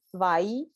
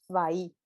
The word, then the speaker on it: bahí: Entonces, por ejemplo, hay una palabra que es bahí, bahí. Ujú. Se escribe B corta A, I, B corta o V. B corta decimos en Sudamérica, sería V, Ok, A, I, sería bahí, bahí.